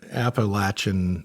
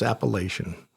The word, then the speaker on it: Appalachian: So, this Wampus cat kind of originated in the uh Appalachin Mountains. And before I get corrected on the way I said that, if you're a West Coaster, it's Appalachian.